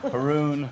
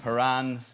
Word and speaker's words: Horan: What's the best mispronunciation of your name floating around out there? Niall, Noel, Nigel. Nigel? Haroon, Horan. Haroon. Anything but what it actually is.